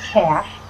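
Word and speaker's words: cache: or will be cashing c-a-c-h-e is how you pronounce that cash storing it away um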